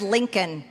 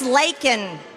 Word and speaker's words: Laken: even say it right he said Lincoln her name is Laken leak Riley but you want to